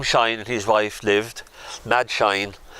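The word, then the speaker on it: Madge: and his wife lived mad shine we used to pronounce her not m-a-d-g-e but m-a-d he was a very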